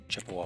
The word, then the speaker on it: Chippewa: make some big goofy detour through Leinenkugels and Chippewa Falls?